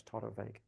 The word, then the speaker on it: Torabhaig: And if you just try and remember something like the Irish girl's name, Siobhan, and the spelling of that, that might help you remember how to pronounce Torabhaig.